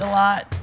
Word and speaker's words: Delatte: Delatte.